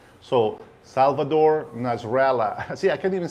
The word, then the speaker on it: Salvador Nasralla: And guys, if I pronounce the name in Spanish the way that it's supposed to be, I'm not trying to fake an accent. This is the way I know that the name is being pronounced, and it should be pronounced.